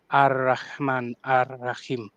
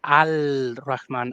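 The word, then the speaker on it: الرحمن: We know that this is supposed to be read alman. But we will say al raman alraim pronouncing the alif lamb very clearly because people listening they will probably not actually speak Arabic. So that's not how it is pronounced in the Arabic. The L doesn't the lamb doesn't get pronounced.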